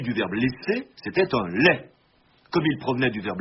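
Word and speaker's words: legs: l'on a désormais écrit l e G s vous devinez la suite la tendance contemporaine à prononcer la consonne finale des monosyllabes out but jointe à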